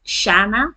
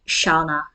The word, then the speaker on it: Shana: pronounce my name um in Belgium um everyone says Shana that's how you pronounce it here in Belgium but I have a few British friends of mine who actually uh call me shaa so it really doesn't